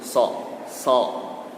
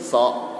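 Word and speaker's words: ص: Ketika mengucapkan huruf so itu tidak boleh dimonyongkan bibirnya. So. Biasanya kan seperti itu. So. Tapi yang benar itu harus dilebarkan bibirnya. So.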